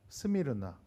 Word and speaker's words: 스미르나: 스미르나. 예. 갑자기 이러니까 없어 보이죠. 예. 그래서 이렇게 영어로 하면 스미르나. 알 발음을 넣었죠.